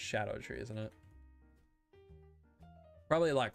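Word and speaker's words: Scadutree: more close to the it's actually pronounced Shadow tree isn't it probably a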